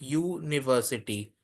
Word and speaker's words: university: That is why we if we say university we we say it like university which starts with a Y.